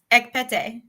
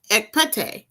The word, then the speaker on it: Ekpete: So, Soror Ekpete. Close. Close. Oh my gosh. Very close. Very close. Okay. All right. Pronounce it right for me, Soror. Ekpete. Ekpete.